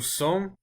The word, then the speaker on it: sommes: was just là nous somme don't pronounce the S at the end unless if there's a vowel after it example nous sommes Alice